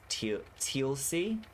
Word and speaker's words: Teal'c: Oh, it's pronounced Teal'c.